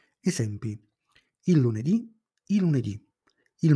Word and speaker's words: lunedì: e di genere femminile le parole con l'accento sull'ultima sillaba si chiamano tronche e non cambiano al plurale esempi il lunedì il lunedì il martedì